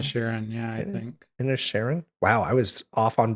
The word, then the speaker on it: Inisherin: the way, a little movie that I'm gonna mispronounce, The Banshees of Inisherin. Inner Sharon? Inna Sharon, yeah, I Inna- think. Inisherin?